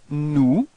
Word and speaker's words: nous: And then you've got nous. Alright. So keep in mind that final S is not pronounced.